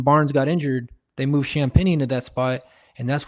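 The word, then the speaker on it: Champagnie: Champagny. Champagny.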